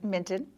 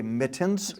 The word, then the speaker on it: Minton: Minton. I always say Mittens. Right, which is why he loves you so. It's Minton. Minton.